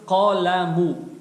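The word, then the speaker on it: قَلَم: Фатху, то есть звук А, мы произносим с оттенком О. То есть ка, ка. Потом вторая буква идет буква лам с огласовкой фатха. Здесь уже чистую А произносим. Точнее будет с оттенком Я, потому что лам у нас мягкая. Получается кала, кала.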